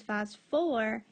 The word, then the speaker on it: phosphoric: And we said for phosphorus and sulfur, we keep that extra syllable in. So this is phosphoric acid, no hydro in front.